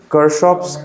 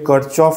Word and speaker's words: Kirchhoff: এবারে প্রোনাউন্সিয়েশন কেউ কারশফ করে, কেউ কারচফ করে, কেউ কিরচফ, কেউ কিরশফ, তো যার যেরকম, আমি কারশফ বলি, হয়তো স্কুলের স্যার দেখবে কিরচফ বলতে পারে, তো সেম জিনিস।